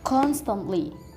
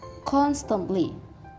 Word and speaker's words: constantly: And the stress is located on the first syllable. The meaning of this word is gizi. The fourth word is constantly. The phonetic sound is constantly.